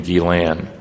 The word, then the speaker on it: Guillain: the Guillain-Barre syndrome and I'm sorry to tell your French teacher that this guy pronounced his name gilan so a steroids B